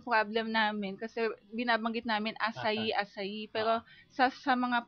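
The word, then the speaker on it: açaí: asai ung spelling non Ano ang spelling ng asay a c a i sa atin basa natin akay akay Pero in Brazil it's it pronounce asay Okay so k halimbawa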